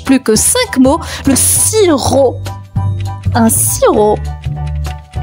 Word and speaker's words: sirop: Le sirop. Un sirop. Et le sirop les amis s'écrit s i r o p. La lettre muette à la fin c'est un p sirop.